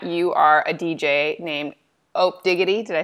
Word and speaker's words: Opdiggy: It is pronounced Opdiggy.